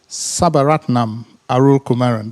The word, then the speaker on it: Sabaratnam Arulkumaran: speaker today who is um a marital professor Sabaratnam Arul Kumaran.